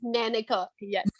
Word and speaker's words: Nanika: pronunciation please is it nanka hey thank you so much oh well it is nanika nanika thank you nadi i